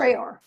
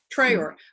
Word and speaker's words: Traer: Is that how you pronounce it? Traer. Traer.